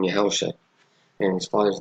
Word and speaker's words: Yahawashi: So the highlighted name is Yahawashi, and that's how you say it, right? That's how you say it. That's how you say the name, Yahawashi.